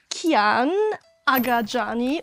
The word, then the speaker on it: Kiyan Agadjani: We welcome Kiyan Agadjani as our today's guest. Did I pronounce that correctly?